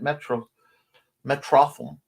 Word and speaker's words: Metrotham: And Chris says, my accountability was helping Halicon pick up 3 pre-regs this past weekend at Metrotham. It's pronounced as a combination of Metropolis and Gotham.